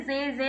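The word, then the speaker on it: Sie: ஹைசன் டி பசனன் பர்சனன் இது வந்து ஜே ஜே கிடையாது ஜி ஜி மேம் இது வந்து லேசனா ma'am Larsen okay ma'am. Larsen ஜி ஜி இந்த எஸ் வந்தாலே மோஸ்ட்லி இந்த ஜெட் சவுண்டு தான் வரும் ஜா ஜி ஜி சோ பூட்டன் Morgan my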